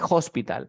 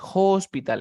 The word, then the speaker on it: hospital: Carlos dice, aplica la T entre dos sonidos de vocales. Suena como R.